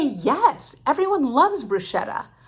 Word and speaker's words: bruschetta: say yes everyone loves bruschetta but we don't call it the italian way bruschetta why because nobody corrected